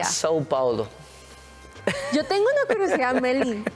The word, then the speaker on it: São Paulo: Sao Paulo, ¿cómo se pronuncia? Sao Paulo. Yo tengo una curiosidad, Meli. San Paulo, dije yo, ¿verdad?